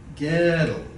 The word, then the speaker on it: Gödel: Say goal. Odal as if there's no um there. Then move the tongue back in your mouth some ghetto.